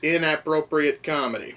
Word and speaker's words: InAPPropriate Comedy: That movie is InAPPropriate Comedy. No, I am not pronouncing that wrong. For whatever reason, there's a lot of emphasis on the word app in the word inappropriate.